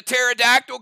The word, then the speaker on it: pterodactyl: you hear when a pterodactyl goes to the bathroom because the p is silent it's not bad it's